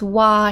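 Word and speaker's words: 話: before as hanashi but here it's working as a counter for stories and it's pronounced wa here so this is so the 17th story oh chapter 17.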